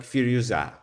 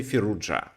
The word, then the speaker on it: Firouzja: everyone agrees but uh his family name uh sounds in a different way depends on the uh country so so here is French it should be something like fua fua uh well people also say fuja so I'm going to say fuja because I got used to pronounce like that Russian people say ala fuza something like that but let's say fuja